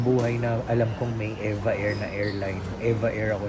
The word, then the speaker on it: EVA Air: Tinanong ko yung isa sa flight attendant doon kung ano ba yung tamang pronunciation ng Eva Air. Yan ang sabi nila Eva Air.